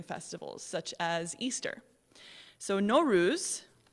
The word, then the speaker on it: Nowruz: such as easter so nowruz pronounced no rus which literally means new